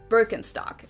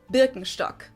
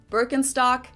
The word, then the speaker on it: Birkenstock: the world nowadays, and it's natural that people pronounce it with their native accent. So English speakers usually say Birkenstock. In German, we say Birkenstock. Birkenstock, Birkenstock, which literally translates to birch stick.